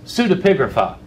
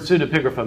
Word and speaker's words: pseudepigrapha: Scholars tend to call these things pseudepigrapha. Pseudepigrapha is spelled with a P in the front, pseudepigrapha, P-S-E-U, pseudepigrapha. They call them this because they don't want to call them forgeries.